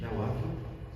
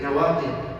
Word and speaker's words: nawaqid: Or in English, nawaqid. N-A-W, nawaqid. N-A-W, just spell it. So, nawaqid, right? But in Arabic, nawaqid. Nawaqid, with a ta at the end of the dal.